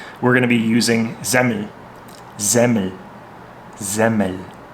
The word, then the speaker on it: Semmel: Sometimes that EL gets pronounced like an E, so you'll hear sometimes Zemi, Zemmel. Yeah, sometimes it's that ERL, sometimes it's an EL, sometimes it's an I. There's some variability there.